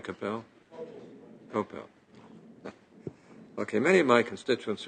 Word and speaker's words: Kopel: Am I pronouncing that right, Kopel? Kopel.